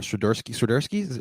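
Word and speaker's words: Świderski: All right, so I've had a lot of questions about from Union fans about Karol Swiderski. Am I pronouncing it right?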